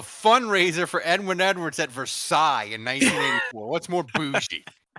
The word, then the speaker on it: Versailles: Please keep calling it Versailles. The S is silent, Ralph, at the end there. Just so you know. Versailles.